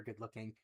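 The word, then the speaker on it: Gudluking: the room, you see his name is actually actually Dr. Good-looking, but it's spelled uh Gu D and then L U K I N G.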